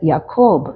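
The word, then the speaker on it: Jacob: എച്ച് യു A Joshua യാക്കോബ് എന്നുള്ള എന്നുള്ള പേര് ജെ എ സി ഓ ബി ജേക്കബ് എന്ന് നമ്മൾ പറയുമെങ്കിലും യു can read it ആസ് യാക്കോബ് ജെ എ സി ഓ ബി യ sound is replaced by J Yusuf is ജെ ഓ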